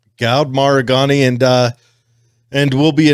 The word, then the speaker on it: Maragani: on but uh god how do you say your last name it's maragani maragani all right gowd maragani and uh and we'll